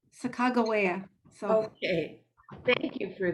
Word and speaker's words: Sacagawea: Well, Kevin Locke told me that's the pronunciation. Sacagawea.